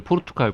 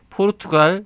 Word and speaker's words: 포르투갈: 오늘 포르투갈 관련 책이라고.